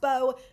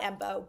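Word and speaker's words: Mbow: I keep on calling him Embo just because that M is there. It's pronounced Bo, not Embo.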